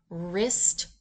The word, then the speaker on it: wrist: In Concept 114, students learn that when the letters WR are together, they are pronounced R, as in wrist, ring, and wrestle. The W in these words is silent.